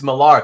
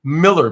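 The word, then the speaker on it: Millar: Mr marar he hates marar because that's how you pronounce it it's actually Miller Believe It or Not Miller with an A okay it's Miller but with an A but but and and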